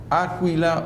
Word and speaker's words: Áquila: Luego dice que Priscila y Áquila o Aquila, pero lleva tilde en la A, lo tomaron por su cuenta y le explicaron con más detalle el camino de Dios.